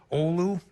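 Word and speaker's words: Oulu: as well guile 17 olu as they pronounce it in finland or ulu here 11 inches and duluth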